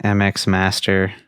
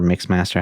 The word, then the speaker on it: MX Master: A Logitech MX Master or Mix Master, however you want to pronounce it.